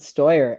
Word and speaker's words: Steuer: I'm pronouncing that right Stuart uh yeah you can pronounce it stoyer and um thank you